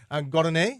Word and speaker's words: Gardine: Gardine? Yes, sir. Is that how you pronounce it? Gardine?